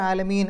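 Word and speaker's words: العالمين: മദ്രസകൾ അൽഹംദുലില്ലാഹി റബ്ബിൽ ആലമീൻ അവിടെയും അങ്ങനെ ആലമീന എന്നാണ് അവിടെ എഴുതിയിരിക്കുന്നത് അവിടെ നമ്മൾ ആലമീൻ ആ നൂനിന് സുക്കൂൻ ഇട്ടു നിർത്തും അപ്പൊ നമ്മളായിട്ട് സുക്കൂൻ കൊടുക്കും ആയതുകൊണ്ട് അതിന്റെ തൊട്ടുമുമ്പുള്ള നീട്ടലിനെ ആറ് അക്ഷരങ്ങളുടെ ദൈർഘ്യം വരെ നീട്ടാം ആറ് ഹറക്കത്തിന്റെ ദൈർഘ്യം വരെ നീട്ടാം അപ്പൊ ആലമീൻ അറഹ്മാനി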